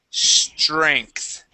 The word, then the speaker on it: strength: Okay, so that TR. Okay, we're gonna put TR like a CHR. Okay, and the ENGTH. Okay, that ENG will be changed to an ANK, and then the TH at the end. Strength. And okay. Strength. Strength. Like a K? Yeah, like a K. It's a K to a TH sound.